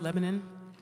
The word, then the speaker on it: Lebanon: I learned from Adam, it's pronounced Lebanon.